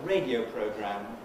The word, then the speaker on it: radio program: So radio is a word, program is a word, radio program, stressed on the radio is a compound.